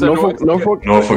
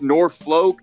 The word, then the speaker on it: Norfolk: Is it Norfolk? Is it Norfolk? Like what am Norfolk. I saying? Norfolk. Norfolk Southern. Norfolk. Norfolk. Norfolk. Norfolk. Norfolk. Yeah, the L is like it's weird. It's almost like half pronounced.